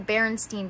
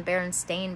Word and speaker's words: Berenstain: shaq in it or thought it was pronounced the berenstein bears rather than the berenstain bears as it is spelled we as a humans